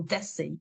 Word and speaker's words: Decky: As I'm not familiar with nicknames for Declan, how does one pronounce Decky? Is it Decky or Desi? Did I say it right? Yes, well, exactly as Jodi did. It's Decky.